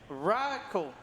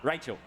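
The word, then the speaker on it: Rahcle: Right, I have $10 from, I'm going to try and pronounce this. I think it's Racle, R-A-H-C-L-E. Ah, Rachel.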